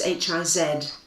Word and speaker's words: Hiz: Hitchin has a river coming through it called Hiz, quite simply Hiz, Hiz, and they think from his to Hitchin, the Z must have been pronounced more or less as the Italians pronounce it, a sort of hits or a hitch.